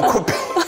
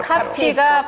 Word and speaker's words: 카피: 너 코피!